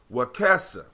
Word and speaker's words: Wakesa: Wakesa. Brother Wakesa. Yeah, right. It's short E's are like short E's and egg F.